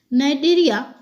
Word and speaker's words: Cnidaria: Cnidaria, इसको सी silent रहता है, और स्टेनोफोरिया से युक्त